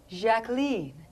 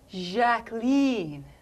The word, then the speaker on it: Jacqueline: Well, actually, it's pronounced Jacqueline. French style. Jacqueline.